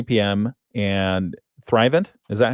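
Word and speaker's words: Thrivent: That happens at uh at 3 PM and Thrivant, is that how you say it? Thrivant Financial. Yep. Thrivant Financial.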